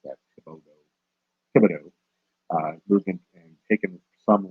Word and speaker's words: Thibodaux: That's how you pronounce that, Thibodaux.